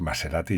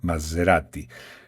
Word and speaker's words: Maserati: Maserati, a mí me gusta mucho cómo se dice en italiano, porque en los españoles decimos Maserati y ya está. En italiano se arrastra más esa S.